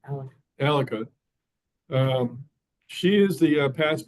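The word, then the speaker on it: Aleqa: where I knew we saying it wrong Al alaka um she is the past prime minister of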